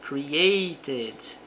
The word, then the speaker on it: created: She created a modern designer for the logo. Então ela criou. Aqui nós pronunciamos o e normalmente. Created. Posso pronunciar o T com som de R.